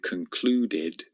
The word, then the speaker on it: concluded: Observed with a d sound, crashed with a t sound, and concluded with an id sound.